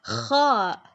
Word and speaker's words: خ: Kha is one of the letters that doesn't have a counterpart in English. Non-Arabic speakers usually pronounce it with a sound similar to the English letter K, but K is the counterpart of a different Arabic letter called Kaf.